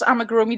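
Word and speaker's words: amigurumi: could never say it before yeah this is AMA groomy this is a Okami from the fantastic beasts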